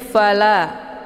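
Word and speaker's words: فَلَا: Kemudian fala, la dibaca panjang 2 harokah.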